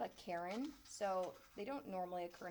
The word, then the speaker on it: cairn: But when you stack rocks like that, that's called a cairn. Not like the name, like, oh my gosh, that lady's such a Karen.